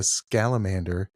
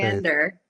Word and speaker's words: Scamander: all of his magical I probably mispronounced that as I see your face. Scamander. Scamander. I'm so I said I I combined totally looks like Salamander. I I was going to say I combine salamander.